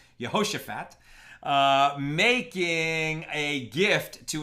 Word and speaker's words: Jehoshaphat: 3 we're talking about yehoshaphat yeah so she's probably pronouncing that wrong Jehoshaphat uh making a gift